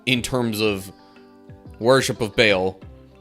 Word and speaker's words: Baal: terms of worship of Baal, which you might also hear pronounced Baal, but in order for it to flow smoothly when I'm saying it, just Baal works better.